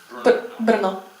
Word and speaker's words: Brno: in, first in Prague, then Bratislava, then in Brno, is that how you, Brno? Brno. I mispronounce it every time, thank you.